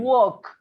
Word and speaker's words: walk: work it is you you say could and walk is is when the l disappear that's right disappear in